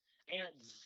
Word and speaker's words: Antz: Is how you pronounce it with his buzz, soft buzz. How you pronounce it? Yep. Yeah, how do you pronounce it again? Antz.